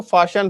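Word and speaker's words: Faxian: कि इसको प्रोनाउंस कैसे करना है तो इसको प्रोनाउंस करना है फाशियान तो आगे से इसको फाशियान पढ़ना ना कि फ़हियान अभी तक अभी तक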